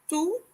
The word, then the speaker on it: tout: Similar to the first word, we didn't pronounce the final consonant T.